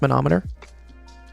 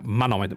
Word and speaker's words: manometer: How do you pronounce monometer? Well, you say monometer with like a contraction. So I would say wait manometer manometer. Manometer I would say or manometer. Manometer. Okay. Yeah. You say manometer manometer.